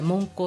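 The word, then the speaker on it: 聞香: で、あの聞香って言ってね、聞くに香るって書いて聞香って読むんだけれ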